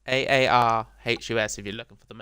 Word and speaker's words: Aarhus: Aarhus, Aarhus.